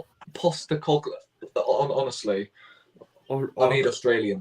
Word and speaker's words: Postecoglou: Postecoglou. Postecoglou.